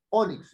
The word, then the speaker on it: ónix: Es una palabra grande tengo la palabra ónix tengo dos sílabas o y mix No es cierto El golpe de voz la fuerza de la voz predominante está en Oh onix yo no digo ónix sino digo ónix es una palabra grave